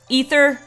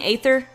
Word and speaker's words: Aether: you like so yeah I know it's ether I like saying aether because that's kind of how it's spelled even though it's not I don't know alright so